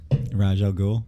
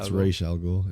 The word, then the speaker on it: Ra's al Ghul: You Might as say, well keep how'd you pronounce it? Raj Al Ghul. It's supposed to be, Oh, Ra's Ra's al Ghul.